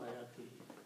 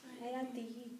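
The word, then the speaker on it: آيَاتِهِ: Is it ayatuhu or ayatihi? Ayatihi.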